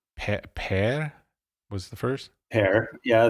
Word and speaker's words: Per: Père. Yeah, that's like Pierre in French, but it's Père, like Peter, actually.